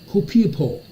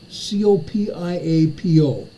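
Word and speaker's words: Copiapó: 80 kilometers east of I can never pronounce these names of these cities anywhere. Copiapo, C-O-P-I-A-P-O, Copiapo, Chile, a 4.3 earthquake.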